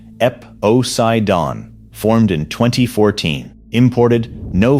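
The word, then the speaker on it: Eposeidon: And then there is the bottom of the wall, KastKing SuperPower from a company called Epocaidon, pronounced Epocaidon, formed in 2014, imported no fiber brand named anywhere on the spool.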